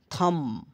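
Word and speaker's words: thumb: M plus B, এম আর বি একসাথে থাকলে বি এর পর ভাওয়েল না থাকলে বি এর উচ্চারণ হয় না। যেমন বম বোমা, কম চিরুনি, থাম হাতের বুড়ো আঙ্গুল, থাম্বনেইল ছোট ছবি, ক্লিম ওঠা, ক্লাইম ওঠা।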